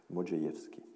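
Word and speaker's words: Modrzejewski: Et donc, voilà, le RZ se prononce J, Modjeïevski.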